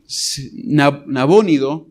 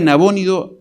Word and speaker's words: Nabónido: Y probablemente ya sabía que su padre, que Nabónido, se pronuncia en español, que su padre Nabónido había sido ya derrotado en el norte de Babilonia.